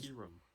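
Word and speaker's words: Kyurem: between kairen and and kiram it's actually a key room it's a pokemon iron it's a pokemon god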